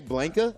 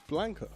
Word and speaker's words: Blanka: man I'm saying it correctly did you say blinka I'm saying it correctly who is blinka what was it Blanca how do you say it Blanca Blanca yeah it's Blanca blank he's green he yeah I don't understand